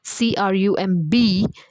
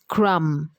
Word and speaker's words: crumb: to be found now this word here CR u MB is crumb and not crumb ok the B is silent you are to pronounce it only till M not a crumb to